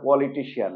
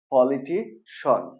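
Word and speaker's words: politician: right না আসলে এটা পলিটিশিয়ান না এটা হলো পলিটিশন পলিটিশন ওকে এই যে সি আই এন এতটুকুর উচ্চারণ হবে সন ওকে মনে থাকবে তাহলে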